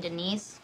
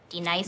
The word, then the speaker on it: D-Nice: Do you mean Denise? Son of a bitch! You say your name right, right now. Denise? Say it right. Denise. Correctly. Denise. Right. Denise. Right. D-Nice. That's better.